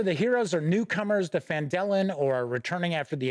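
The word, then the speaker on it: Phandalin: pronouncing the town correctly I don't want anybody out there crying because I said fandolin rather than fandellen so there are a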